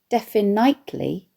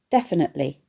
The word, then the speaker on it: definitely: Latin and Greek, but we also, when we speak, have a habit of making a lot of the unstressed vowel sounds in a word sound the same, regardless of the letter they are represented by. Rather than say definitely, we say instead definitely.